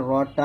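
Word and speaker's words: ر: তারপর 10 নং মাখরাজ জিহ্বার আগার পিঠ অথবা উল্টা পিঠটা আমরা তার বরাবর উপর তালুর সঙ্গে লাগিয়ে রটা একটু মোটা করে উচ্চারণ করব, র, রা বলবো না, আর র উচ্চারণ করার সময় যেন ঠোঁট গল না হয়, র, র, এরকম ভাবে, র।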